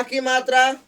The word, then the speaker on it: कामता: तो क में आ की मात्रा का हो गया, यानी कि के से का। अब है मता, तो म और त के बीच में अ आ रहा है, नहीं आ रहा है, उच्चारण में अ नहीं आ रहा है।